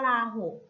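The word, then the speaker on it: วลาหก: ขั้น ต่อ ไป ค่ะ คำ ว่า วลา หก ค่ะ ว่า ล่าง บก อ่าน ว่า วลา หก เวลา 6 ประกอบ ไป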